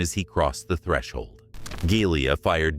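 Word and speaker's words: Gelia: How do you pronounce that? Giglia. Giglia?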